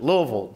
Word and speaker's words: Louisville: I was in Loui- and that's how you pronounce it, Louisville.